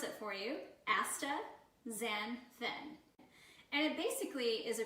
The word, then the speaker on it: astaxanthin: funky word for you so we're going to pronounce it for you AA zanin and it basically is a carotenoid and it's